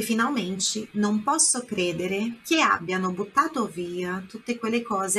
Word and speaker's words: abbiano: Abbiano, a sílaba forte lá no A, não é abbiano, é abbiano.